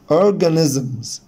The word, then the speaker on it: organisms: organisms organisms organisms. طبعا حبايبي هنا الاسترس على المقطع الاولاني، فطول فيه وعلي فيه صوتي organisms organisms organisms.